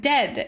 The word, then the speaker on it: dead: sounds like bird and dead it's said like bed not bead for goodness sake don't call it deed Watch out for meat and great and threat.